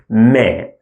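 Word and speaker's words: م: The next one looks like this, and we pronounce it Le, L sound. Then the following one looks like this. It is Me, Me.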